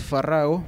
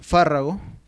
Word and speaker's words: fárrago: este grupo podemos mencionar las palabras fárrago fárrago que viene del latín fárrago y pabilo pabilo del latín para pink luz papyrus que se suelen pronunciar esdrújulas aun cuando eran llanas en latín y fréjol fréjol y